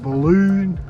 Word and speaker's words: Boolboonda: So how's it pronounced? Boolboonda. Boolboonda tunnel.